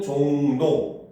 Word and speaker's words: 종로: 자 19항에 따르면 자 받침 미음 이음 뒤에 이어지는 리은 으로 발음을 합니다 그래서 우리가 종로라면 읽을 때는 종도 이렇게 읽잖아요 그렇죠 이런 것들이 바로